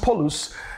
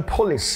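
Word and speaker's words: πολύς: Polus, P-O-L-O-S, it's pronounced polus in the Greek, but it's actually polis in the English, poly.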